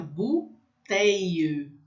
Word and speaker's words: bouteille: Então, BU tem som de U, fica bouteille, bouteille. Então, fica um I comprido, tá? Tem um monte de letra aí, eu não vou pronunciar todas, porque o U vai ter som de U e o I, L, L vai ter um som de I comprido, bouteille.